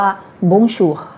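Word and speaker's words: Bonjour: อยู่ เนี่ย เรา ก็ จะ ใช้ คำ ว่า บุญ ชู บุญชู OM นะคะ อ่าน ออก เสียง องค์ องค์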